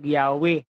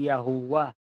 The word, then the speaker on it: YHWH: Ang pagkakabasa po natin dyan sa Tagalog, Yahweh. Diba? Yahweh. Tapos sa ibang translation, Jehovah. Diba? Jehovah. Tapos yung iba naman, ang tawag talaga dyan, yung original pronunciation niyan, Yahuwah. No? Yahuwah. Magano, Yahuwah.